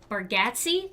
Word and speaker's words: Baratti: went and we saw Nate baratti that's how you say it because that's how they said it at the uh at the show and uh we had